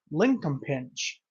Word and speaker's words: Linkumpinch: we're getting into a sample of dueling crowns linol pinch I said it right I know I did